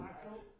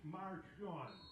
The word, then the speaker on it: Marshawn: I've been pronouncing on the him as 28-yard line. Marshall. His name is Marshawn.